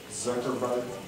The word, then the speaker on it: Zuckerberg: And I should have researched this, but I think his last name is pronounced Zuckerberg.